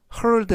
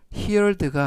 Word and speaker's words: heard: 이때 heard 하면 here 듣다라는 동사의 과거 분사가 되겠고요. 발음에 유의하실 점은 here가 아니라 heard 그리고 heard of 하면 뭐뭐에 대해 들어봤다.